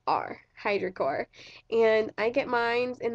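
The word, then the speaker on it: Hydrocor: spelt H eye dr o SI o are Hydra core and I get mines in the color Mel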